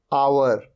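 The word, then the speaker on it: hour: है हा ये है अवर यहां पर हा साइलेंट होता है अवर अवर मतलब घंटा ऑनेस्ट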